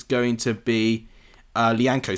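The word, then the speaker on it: Lyanco: It is well blocked by Licano. And it's going to be... Lianco, sorry, that's how you pronounce it.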